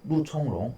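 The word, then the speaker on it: 肉苁蓉: 총으로 발음을 하죠. 육종룡, 루총롱 이렇게 발음을 하는 거죠.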